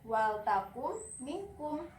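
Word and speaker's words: ولتكن منكم: Nah, jadi tadi Ananda pas di sini membacanya wal takun minkum. Kenapa ini dibaca Nanda? Seharusnya ini tidak dibaca. Jadi langsung wal takum minkum. Huruf na ini dihilangkan, tidak disebutkan gitu. Kita langsung masuk ke mim ini gitu.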